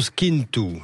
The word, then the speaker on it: Schintu: Bonjour à vous, Skintu. Est-ce que je le prononce bien ? Oui, bonjour à vous. Bien sûr, vous le prononcez parfaitement. Merci. Je vais mettre même un peu d'accent. Skintu, vous êtes glacier artisanal à La Ciotat, dans